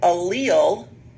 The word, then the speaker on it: allele: like it's spelled all L but it's actually pronounced a li all so allele is the number one goes in the blank